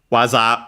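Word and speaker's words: 技: waza. We've also studied this kanji. Accent on the last mora means technique.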